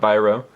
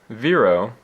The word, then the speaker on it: Viro: That is pronounced Viro, not Viro. The little thing over the I makes it make an E sound, not an I sound.